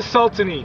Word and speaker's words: Sultany: I'm off to Sultany, capital of Sultan country, and yes, that is how it is properly pronounced.